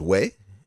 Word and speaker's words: güey: The next one is way, and it is spelled Guey, Oh.